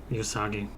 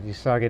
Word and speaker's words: Uesugi: It's spelled Uesugi. Do you know how to pronounce that in Japanese? Usagi. Yeah, Usagi. That's another one that one